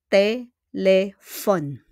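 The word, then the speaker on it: téléphone: thank you po pakiulit telephon the proper pronunciation is telephon mero So let's continue with numero telephone.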